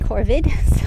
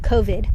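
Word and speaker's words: COVID: home entertaining ourselves during corvid o co vid sorry I've been saying it wrong everything I was like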